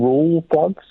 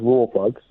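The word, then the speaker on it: Rawlplug: But the reason why I've called back up is you keep saying roll plugs. Roll plugs? Yeah. The L, I'm pretty sure the L is silent. I'm pretty sure it's just raw plugs.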